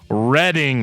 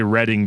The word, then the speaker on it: Reading: I'm allergic to comment I'm kidding I love reading comments we gotta we gotta comment uh in